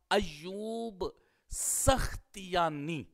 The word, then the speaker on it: ایوب سختیانی: رہے ہیں، اس میں سب کا اتفاق ہے کہ سین کے اوپر فتحہ ہوگا اور خا کے اوپر جزم ہوگی اور تا کے نیچے کسرہ ہوگا، یہی راجح ہے۔ تو اس کا پھر تلفظ کیا ہوگا؟ ایوب سختیانی۔ اس طرح ہم اس